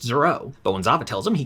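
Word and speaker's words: Zoreaux: goalie the Canadian Zorro keeps correcting everyone it's pronounced zero Bowen Zava tells him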